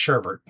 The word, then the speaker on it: sherbet: I know it's spelled sherbet, but it's pronounced sherbert.